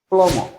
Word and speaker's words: plumber: Plombier en anglais on dit plumber. Plumber. Okay? Plumber. Plombier, plumber. C'est écrit plumber, mais on ne prononce pas le D.